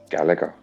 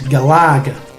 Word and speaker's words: Galaga: gaiden no no yeah gallagher yeah i say now on the last game they did say the correct pronunciation is galaga but i've got no